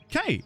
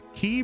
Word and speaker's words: Quay: You don't pronounce it K, right? It's key, right? Have I been saying it wrong my whole life? Key pronunciation.